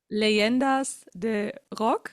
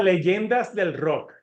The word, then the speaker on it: Leyendas del Rock: Is it correctly pronounced or The what? Leyendas de Rock? Ah, Leyendas del Rock. Del Rock.